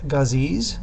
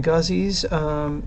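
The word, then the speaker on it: ghazis: Islam and as Muslims they saw themselves as gazees and you can spell that g-h-a-z-i-s the guzzies see themselves as Warriors for Islam and they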